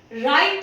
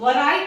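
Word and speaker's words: write: के पहले W आ रहा है तो ये साइलेंट हो जाएगा। राइट को भी हम वराइट नहीं पढ़ते, राइट ही पढ़ते हैं, एंड रिस्ट को भी हम वृष्ट नहीं पढ़ते, रिस्ट पढ़ते हैं।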